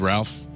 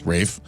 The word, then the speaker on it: Ralph: I've often ridiculed Ralph I'm sorry, Rafe. When his name is clearly spelled Ralph and he's trying to get away with some sort of weird English pronunciation and co-opt my name.